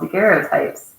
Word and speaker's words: daguerreotypes: of children how do you say that oh daguerreotypes photos essentially of children by now i must